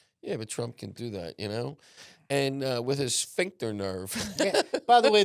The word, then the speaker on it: sphincter: Yeah, but Trump can do that, and with his sphincter nerve.